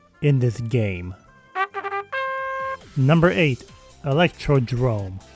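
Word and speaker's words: Electrodrome: Number eight, Electro Drrome, which I cannot believe that's how you pronounce it. I always pronounced this track as Electrod dome for like eight years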